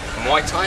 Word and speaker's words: Muay Thai: Muay Thai?